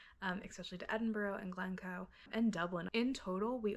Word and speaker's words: Glencoe: Edinburgh to Gleno, which I don't pronounce correctly in the video, but you'll see later on is Gleno, not Glen Cow.